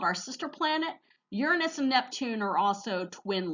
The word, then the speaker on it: Uranus: not pronounced that way anymore the official astronomical pronunciation is Uranus we're also going to talk about some Kuiper belt objects as well as the dwarf planets okay so let's talk about Uranus and Neptune together they are very much alike